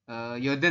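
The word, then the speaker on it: 여든: 80 Apa di bacanya? sini Yoden ya.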